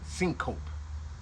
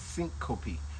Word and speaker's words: syncope: But I was pronouncing syncope. But no, it's syncope, which means a temporary loss of consciousness.